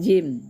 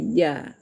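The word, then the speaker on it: ج: Kemudian jim. Nah, sebelum dia dikasih baris bacaannya jim ya. Nah, kalau sudah berbaris berubah lagi dengan menambah tambah bunyi a jadi jaah. Jangan sampai kita salah baca ya.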